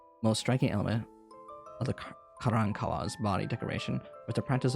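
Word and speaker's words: Karankawa: Most striking element of the Carancawa's body decoration was the practice of tattooing their faces with blue lines, and perhaps even figures.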